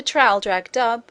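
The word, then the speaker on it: Traldragdubh: and my retinue to tr drag dub or Trill drog drip for it is pronounced both ways as near as I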